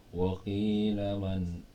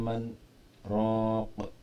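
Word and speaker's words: من راق: Waqila man raq ya, nggak boleh dibaca ikhfa. Waqila man, salah. Waqila man raq, itu namanya sakta, berhenti sejenak tapi nggak ngambil nafas.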